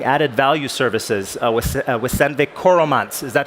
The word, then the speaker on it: Coromant: have been driving added value services with Sandvik Coromants. Is that how you pronounce it?